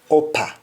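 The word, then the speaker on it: uppa: another preposition is upper because app is pronounced as op so appa will be oppa and example shall have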